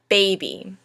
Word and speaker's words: baby: Baby. Now baby has two syllables. First a stressed and then an unstressed syllable. We pronounce it baby, not baby.